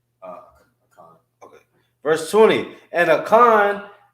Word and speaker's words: Achan: Achan.